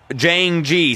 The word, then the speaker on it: Jayingee: all the other pipes is pronounced Jane G sorry my bad my